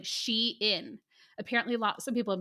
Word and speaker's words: Shein: And when I Googled it from their Twitter account, they said it was like Shein.